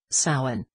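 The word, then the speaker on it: Samhain: stages of Halloweens development soin pronounced so in All Hallows Eve and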